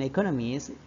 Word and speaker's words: economist: notice the stress on economies this content word Has new information So it is empasized there are four syllable in economies with the stress on the second syllable intinya di sini economis